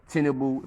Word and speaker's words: Tinubu: They try to put things in order, you know, Tinubu, that's what they pronounce his name, Tinubu, you know.